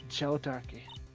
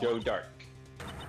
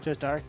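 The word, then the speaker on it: Joe Darke: Uh Joe Darkkey. No, no. Joe Dark. Joe Dark. You don't pronounce the E.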